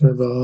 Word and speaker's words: rebel: Yeah, it's rebel, okay. Yeah, it's tricky, isn't it? Uh how about my pronunciation about uh thoughtful investigation Yes.